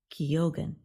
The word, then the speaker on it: Keoghan: The last name of Irish actor Barry Keoghan, who starred in Saltburn, is pronounced Keoghan.